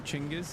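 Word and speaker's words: Genghis: Uh just learned he you pronounce his name Chingis.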